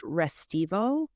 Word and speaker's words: Restivo: note I think that his name is actually pronounced restivo but I'm a terrible